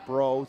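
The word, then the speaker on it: Breaux: a ball 1-0 now Josh bro is spelled b-r-e-a-u-x I think it missed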